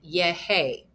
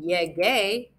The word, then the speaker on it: llegué: llegamos, llegó, llegaste, and yehe. Because yehe is that soft G sound, I want it to be the hard G, so I'm going to add in that U, and I'm going to get yege.